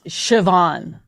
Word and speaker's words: Siobhan: These are are uh Keva nimba Simas Siobhan is spelled s-i-o-b-a-n that's Siobhan okay Maureen tag Selah I mean they're they're